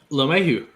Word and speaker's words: LeMahieu: LeMahieu.